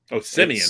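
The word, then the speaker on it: Semien: I mean, Simeon. Yeah, I pronounced his name wrong. What'd you say? What'd you call him? I think I said Seaman. Seaman? No, he's not. Yeah.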